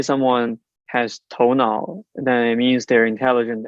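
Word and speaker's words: 头脑: have is spelled t-o-u-n-a-o it's pronounced as tonal yes so tou part is toe so that means the the literal head and the second part is now I think the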